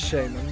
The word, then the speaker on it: shaman: It is Shaman, that's the appropriate thing. There's no W in it, I just mispronounce it.